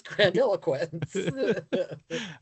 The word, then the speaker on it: grandiloquence: The word, again, is grandiloquence.